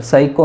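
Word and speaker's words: psycho: साइको में P silent है तो पी साइको मोटर।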